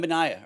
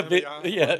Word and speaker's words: Wembanyama: Wembanyama, or I'll let you say it. How do you say Victor? it? yeah, Wembanyama?